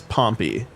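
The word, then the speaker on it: Pompey: it's not the so Pompei is the city the name is pompy in case you were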